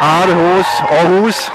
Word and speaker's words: Aarhus: Just to tell where we are and what is going on, we are in Aarhus, the right pronunciation.